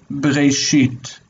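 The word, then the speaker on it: בְּרֵאשִׁית: This is be, in the beginning, be. Second syllable is re, re. And the third, sheet, sheet. Be, re, sheet. And saying it together, bre, sheet, bre, sheet.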